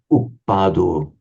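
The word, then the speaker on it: uppādo: So here it's a heavy syllable because it's a short vowel followed by a doubled consonant. Here it's a heavy syllable because it's a long vowel, and a long vowel is always heavy. And here it's a heavy syllable, the final one, because O is long by nature.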